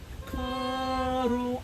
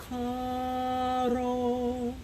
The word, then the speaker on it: caro: instead of pronouncing the R, almost pretend you're going to start to pronounce a letter D. It's like your tongue goes up to pronounce a letter D, but it really doesn't.